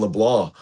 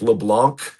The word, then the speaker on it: LeBlanc: It's got a French Cajun pronunciation. It looks like Leblanc, but it's LeBlanc.